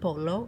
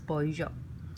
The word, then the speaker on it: pollo: Proteins, proteína, we have pescado, we have huevos, we have pollo, and the double L in Spanish is pronounced as a Y, not polo, it's pollo.